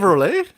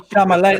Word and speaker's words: Chalamet: I'm Chalamet. Like, I think it's like a certain way you pronounce his last name. I say Oh. Chalamet. I love that. I say Chevrolet.